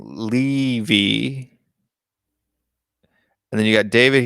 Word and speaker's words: Levy: But apparently it's pronounced Levy.